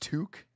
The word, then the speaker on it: toque: Is that how it's spelled? T O Qu U E tooki. It's okay. Pronounced toque.